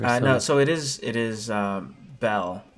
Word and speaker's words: Bel: Am I remembering the name wrong? There was No, so it is Belle.